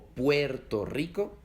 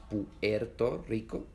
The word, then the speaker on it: Puerto Rico: Esto se oye en palabras como Colombia, que no se pronuncian Colombia, se pronuncian Colombia, o Bolivia, o Puerto Rico, que no es Puerto Rico, es Puerto Rico, o también en Venezuela o Guatemala.